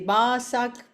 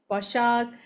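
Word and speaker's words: Başak: Basak basak bashak. So I have to always pronounce and spell for people. There is a dot under s people that makes it sh anyway.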